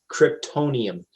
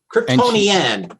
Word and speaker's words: Kryptonian: Kryptonium. I'm saying it wrong. Kryptonian. There we go.